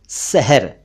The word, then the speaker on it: सहर: अलग एक शब्द है सहर और एक शब्द है शहर वैसे आपको दोनों एक जैसे लग रहे होंगे सुनने में, लेकिन थोड़ा सा फर्क है इनके उच्चारण में।